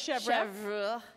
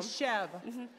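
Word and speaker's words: chèvre: I thought it was Chev say Chev it will sound so much better than going up to the C of from now and say Chev okay like Chevron but shorter so I'm just going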